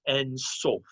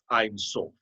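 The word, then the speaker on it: אין סוף: If you read the Kabbalah, the Lurianic Kabbalah, you will know that God is En Sof, or perhaps it would be pronounced Ein Sof. Ein Sof, I'll pronounce it that way.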